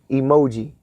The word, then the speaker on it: EMOG: EMOG. Pronounce it emoji.